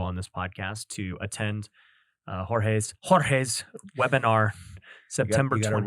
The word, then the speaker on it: Jorge: We'll put a link to it down below on this podcast to attend Jorge's webinar September You gotta 20th. roll your R, bro. Jorge.